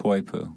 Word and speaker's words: Poipu: How do you pronounce it? Poipu.